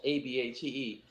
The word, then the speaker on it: Abate: order it and like my name is like spelt a-b-a-t-e and it's pronounced abate but i have one